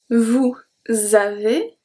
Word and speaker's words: vous avez: Vous avez, link as well, and a Z make the sound E.